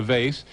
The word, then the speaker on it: vase: do you a doctor do you pronounce do you call it a vase or a Vaz they a vase and now when you